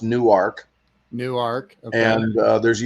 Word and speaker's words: Newark: there in Newark Delaware it looks like Newark but it's pronounced new arc new arc and there's